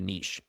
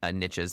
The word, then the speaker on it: niche: I wonder what could happen if we really just focus on dialing in on a niche. I know your Americans say niches, but I say niche.